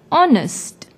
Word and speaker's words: honest: it starts with hitch it is silent when we pronounce the word honest since the second letter is the vowel o we put n before the word honest the shopkeeper is an